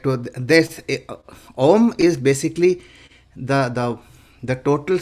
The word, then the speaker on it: ॐ: This Om is basically the the total sum of A U M, or you can say A, U, and not ma. It is mm.